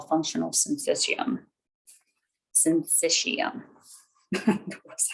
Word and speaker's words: syncytium: Syncytium. That's how you pronounce that word.